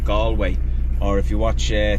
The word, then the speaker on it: Galway: that we're going to is a place called gallway or if you watch uh tourists Vlogs it's they pronounce it gway gway to be honest with you we feel